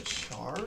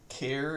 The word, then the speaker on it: char: a bite I think that's a Char for us or care if you prefer to say it like that precision and I